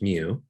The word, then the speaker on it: mu: notation is different we have this greek letter pronounced mu that's the mean pi the symbol for pi